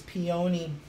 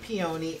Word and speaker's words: peony: I did the gorgeous peony flowers. I said it wrong again. I made the correction yesterday, and of course I said it wrong again. It's not peony, it's peony.